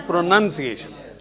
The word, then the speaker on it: pronunciation: What you have to remember is there is a noun in pronounce, but there is a none in pronunciation. Okay? N-U-N, none.